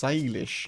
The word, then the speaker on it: Salish: It's pronounced Salish.